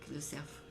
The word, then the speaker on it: Lecerf: sa prononce ou avec le serf en un mot comme l'animal d'accord c'est le le serf le surf donc tu prononces le F d'accord oigé pas obligé